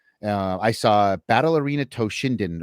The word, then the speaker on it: Toshinden: Uh I saw Battle Arena Toshinden or Toshidan depending on how you want to pronounce it at a demo